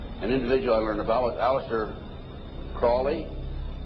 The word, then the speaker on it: Crowley: individual or develop Aleister Crowley he likes to have his name pronounced Crowley to rhyme with holy and the statements today